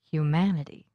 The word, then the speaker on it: humanity: suffix real reality human humanity electric electricity the stress for these suffixes happens on the syllable just before this two-syllable suffix listen moral morality objective objectivity